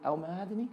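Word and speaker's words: El Mohamady: El Mahadani?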